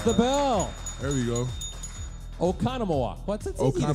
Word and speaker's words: Oconomowoc: Okano Moak? Yes, he got it. Yeah. He gets the bell. There we go. Oconomowoc.